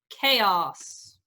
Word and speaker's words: chaos: all right right yes chaos is our greek word it's that ch making a case and that is because